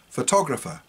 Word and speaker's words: photographer: last one is a photographer so because they mean the same they're spelt the same but pronounced quite differently the other interesting one